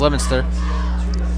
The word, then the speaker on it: Leominster: They dropped their second game of the season against Leominster, excuse me, it's pronounced, it said Leominster, but it's pronounced Leominster.